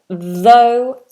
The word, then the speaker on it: though: if that's an R so if we have this word this is unvoiced and this is voiced though through though through though and through oh Jordan says your